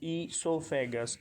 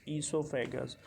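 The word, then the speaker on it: oesophagus: is known as esophagus o is silent here so it's esophagus esophagus so it runs from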